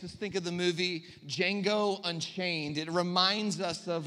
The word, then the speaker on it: Django: It makes us think of the movie Django Unchained. It reminds us of that wasn't supposed to be a joke, but we can laugh together. The D is silent.